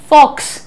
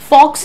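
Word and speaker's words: faux: अगला देखो, फॉक्स, फॉक्स नहीं है ये, दिस इज फॉ, राइट।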